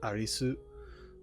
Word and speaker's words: Arisu: Because, and I only say that because, her name's Alice, and in that she was credited as Arisu, which is just the Japanese pronunciation of Alice.